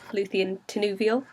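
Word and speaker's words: Lúthien Tinúviel: My GDC username is Luthien Tenuvial, which is how you say it, in case everyone's been asking me about that.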